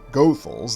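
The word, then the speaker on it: Goethals: was actually George Washington gothal that's how the family says you pronounce that last name who was brought in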